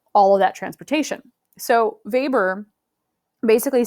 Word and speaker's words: Weber: German economist called Alfred Weber, but it is written W-E-B-E-R, so you might be thinking Weber, but it is pronounced Weber, like with a V, but it's not a V, because, why not?